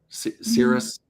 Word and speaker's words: Sirius: Sir Cirrus, that's how you say it.